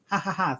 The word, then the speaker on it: 555: that what it means hahaha thanks as the five is pronounced is ha ha ha ha i get it